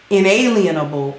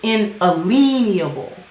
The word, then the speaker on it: inalienable: inalienable rights i was actually corrected on the pronunciation of that word it's not inalienable it's inalienable everybody in the whole wide world says that